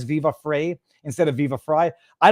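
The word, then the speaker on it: Viva Frei: of the channel because people were going to mispronounce it. Viva Frey. They're going to think I'm a woman named Vivian, whatever. I don't either. I couldn't care less. Growing up, I got free heat, free height, fry heat.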